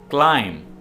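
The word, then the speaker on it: climb: भेड़ के बच्चे को क्लाइम क्लाइम का मतलब है ऊपर चढ़ना और इसमें भी बी साइलेंट है आपने बी को प्रोनाउंस नहीं करना है क्लाइम ऊपर चढ़ना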